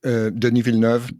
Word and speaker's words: Denis Villeneuve: But it's worth seeing just to see, how visionary, I don't know how to pronounce his name, Denis Villeneuve? Denis Villeneuve, yes.